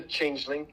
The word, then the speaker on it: Changeling: It's just The Changeling.